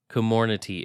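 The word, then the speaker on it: Comirnaty: vaccines comor nutty commonity commonity is how you pronounce it i'll do my best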